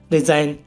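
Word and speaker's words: resign: अब इसमें ही देख लो गाइस, एन से पहले जी आया हुआ है तो जी साइलेंट है हमारा इसमें। ऐसी और भी एग्जाम्पल है गाइस, रिजाइन, रिजाइन माने त्याग देना, साइन, साइन माने तो आप सबको पता ही है, साइन।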